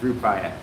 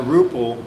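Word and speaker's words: Rupiah: Rupaya, that's it, sorry. Yeah, so that's two differences, Rupaya. It'll take me a few days before it gets in my head. The Rupal was because kind of I guess my mispronunciation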